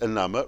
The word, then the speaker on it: enamour: Clamour and enamour rhyme with hammer.